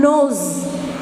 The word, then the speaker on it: nose: See here, the rabbit gets a swollen nose. Nose. See, N-O-S-E. This S is pronounced as Z.